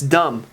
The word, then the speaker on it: dumb: doesn't make sense that's dumb didn't even pronounce the b dumb that's freaking dumb as